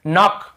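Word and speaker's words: knock: जैसे देखिए नॉक, नॉक खटखटाना, नॉक नॉक ऐसा, तो नॉक, यहाँ पर भी के साइलेंट होता है, नॉक नहीं पढ़ेंगे, केवल नॉक पढ़ेंगे।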